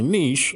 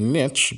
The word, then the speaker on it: niche: more about that but your Niche or your Niche base based on how you pronounce it is for example